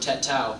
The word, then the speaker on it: tatau: It actually came from a Polynesian word, tatau, which is spelled T-A-T-A-U.